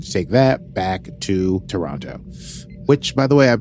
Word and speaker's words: Toronto: they just need to take that back to Toronto which by the way I've been pronouncing like an American this whole time apparently you're supposed to call it Toronto I know that and I'm sorry that I